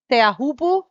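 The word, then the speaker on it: Teahupo'o: Have you seen Sarah, that lady that serves chopo teahupu, which is a proper way to pronounce that wave, not chopo?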